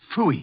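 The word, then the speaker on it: Pfui: It can be spelled in several ways. I spell it P-F-U-I. Fooey.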